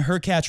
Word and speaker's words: Hurkacz: just move Medvedev and Hurkacz rhymes with Latch to center court to finish the match. Also rhymes with Latch. Even if the match, also rhymes with Latch, went to 12-12, also rhymes with Hurkacz, in the 5th, it